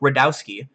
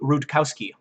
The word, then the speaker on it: Rudkowski: he knows its effect he just doesn't say the K because apparently a long time ago someone was talking about a month on some show and they did pronounce his name correctly and so he gained a ton of followers who called him Luke radowski when his actually name is luke rudkowski okay so his name is rude Kowski that's his name